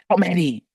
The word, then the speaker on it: Mahdi: Mahdi is Lamonti, that rhymes, and Almighty.